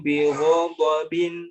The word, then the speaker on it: غضب: Jadi lebih dikuatkan sekali lagi huruf ghain dan dot karena dia punya sifat isti'la, ya. Jadi lebih ditebalkan sedikit. Faba'u bigha, bo. Coba sekali lagi. Faba'u bighadabin ala ghadabin.